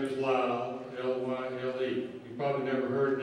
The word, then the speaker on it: Lyle: It's spelled. Last name is Lyle, L-Y-L-E.